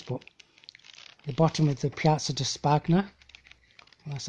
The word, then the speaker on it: Piazza di Spagna: But the bottom of the Piazza di Spagna, that's how you say it, the Spanish Steps,